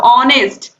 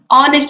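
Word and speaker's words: honest: एन लगाते हैं, क्योंकि उसकी इसका जो उच्चारण है वो आ से हो रहा है, ऑनेस्ट, ऑनेस्ट।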